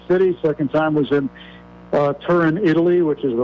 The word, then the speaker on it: Turin: Second time was in Turin, Italy, which is the right way to pronounce it. Turin with no O at the end, yeah. But it's people call it Torino.